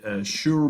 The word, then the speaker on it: Schur: method, the QR factorization, the Schur methods, if I'm pronouncing it correctly, SCHUR, that's a German word.